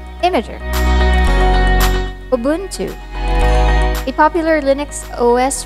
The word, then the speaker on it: Imgur: this as inger or imgur but the word image we got to pronounce it as imager or say the word image er imager ubuntu a popular linux